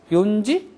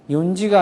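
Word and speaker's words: 四時: 어떻게 해지 돼요 뭐고 요지 거 어 연지가 아니고 뭐라 그랬어요 요지를 한다 그랬죠 요지 요지를 바람 잘못하면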